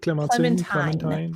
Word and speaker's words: Clementine: Where Clementine? How do you want to pronounce it? Clementine? Clementine. Like the song? Yeah.